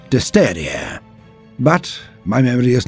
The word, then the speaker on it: Destrier: style of night, the Destriè. Even though I remember it being pronounced Disteria, but my memory is not what it was.